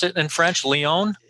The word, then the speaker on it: Lyon: uh massachusetts and lyon is that how you pronounce it in french leone it's a very good pronunciation this is uh